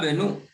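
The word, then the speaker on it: بنو: Lihat di sini. Wa benu, dia tidak dibaca.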